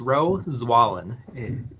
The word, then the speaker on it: Rowe Zwahlen: So, my name's Rowe Zwahlen.